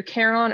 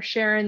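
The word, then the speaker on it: Charon: compared to Pluto um called either Caron or Sharon there's some debate about how to pronounce that um but Caron is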